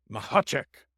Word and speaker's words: Mahacek: And today, we are joined by, you pronounce his last name like a sneeze, Mahacek.